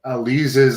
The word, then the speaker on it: Alize: Catherine Dixon is saying Alize's last name is actually pronounced Alize.